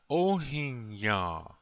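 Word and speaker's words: ohíŋyaŋ: You see an N. And the N seems to have a tail. This means it's nasal. You don't complete the sound of the N.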